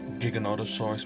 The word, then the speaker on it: Giganotosaurus: however you pronounce it i'm going to pronounce as giganotosaurus because that's how they said it in the movie even though when i